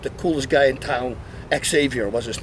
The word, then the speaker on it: Xavier: coolest guy in town Xavier was his name safier that's how he pronounce it in Holland and he told my